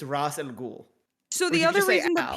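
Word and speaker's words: Ra's al Ghul: race in the game it's supposed to be Ross Ross alcohol no one ever pronounces it the same way uh no one ever pronounces it the same way and so I don't know what the Canon is his name is Arabic for head of the demon it's Ross and ghoul so the other reason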